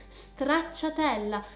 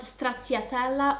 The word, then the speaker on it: Stracciatella: The first question is Stracciatella, and please the right pronunciation, because it is Stracciatella, not Stracciatella or other things that I've heard all over the world.